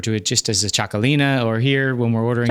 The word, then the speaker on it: Txakolina: It's uh it's actually with a T followed by an X, and then alina. So, txakolina. gasolina song, right?